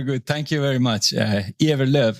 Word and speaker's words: Ewerlöf: Ewerlöf is the last name, how it's pronounced. Okay, yeah, it's for Germans, kind of you read Ewerlöf.